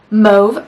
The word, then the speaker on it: mauve: is a move palette i call it mo because the au sound in french is that like o sound like you say the word taupe you don't say how do they pronounce mauve top you don't say top so move that's my reasoning